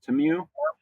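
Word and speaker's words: Temu: Shen and and TAMU is that how you pronounce the other big one te mu TAMU TAMU y yep so they're starting to get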